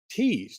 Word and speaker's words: Tews: And finally, this episode is sponsored by Val Rosskins Tease. Now, that's spelled TEWS, but pronounced like TE's.